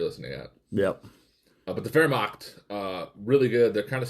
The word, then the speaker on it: Wehrmacht: Let's start with the Wehrmacht. That's the name of the German army. Okay. People call it the Wehrmacht, too. It's spelled Wehrmacht with the W, but in Germany it's pronounced with the V.